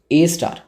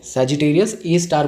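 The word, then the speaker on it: Sagittarius A*: Sagittarius A star. A star ही बोलना है, pronunciation इसे A star ही बोलते हैं। ओके, एस्टरिस्क नहीं, सैजिटेरियस ए स्टार बोलना है।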